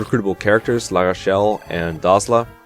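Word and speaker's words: Dozla: characters La Rochelle and dazzla and yes that's how you pronounce it heroes confirmed it but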